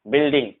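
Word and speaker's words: building: पर जो है डायलॉग, इस तरह के जो वर्ड है इन सब में जो है यू साइलेंट होता है, यानी यू के जस्ट बाद अगर कोई सा भी इसमें से चार लेटर में से कोई सा भी अगर आता है तो यू साइलेंट होता है, ध्यान रखना।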